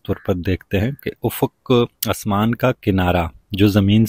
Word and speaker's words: افق: آسان ہو جائے گی۔ تو افق کا جو تلفظ ہے وہ الف پر بھی پیش ہے، فے پر بھی پیش ہے، کاف ساکن ہے، تو افق، ٹھیک ہے۔ تو بڑھتے